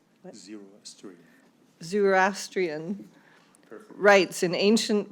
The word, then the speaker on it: Zoroastrian: Zoroastrian. What? Zoroastrian.